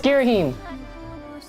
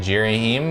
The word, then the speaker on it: Ghirahim: yes what do you want I know it's Ghirahim yeah I said G rahim was so sue me i don't know how to pronounce it hey when holding the z lock